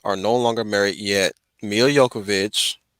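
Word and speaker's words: Milla Jovovich: no longer married yet emilia yokovich that's how you pronounce her name um and and and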